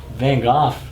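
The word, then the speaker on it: Van Gogh: that's what's crazy is Van goof and that's how you say it not go it's goof nobody bought his paintings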